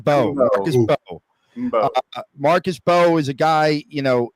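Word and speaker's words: Mbow: Marcus, I believe the M is silent in the last name. Marcus Bowe.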